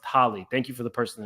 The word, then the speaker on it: Halle: response and thank you I was calling her Haley but it's pronounced Holly thank you for the